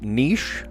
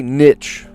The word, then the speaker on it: niche: Adjective that rhymes with sheesh or pitch, depending on who you ask. Some people will pronounce this word niche, like me, like a normal person. Some people will say niche.